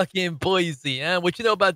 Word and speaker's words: Boise: boys idaho i don't know how do you pronounce boys boise is it boise isn't it it's not boise dude alexa pronounce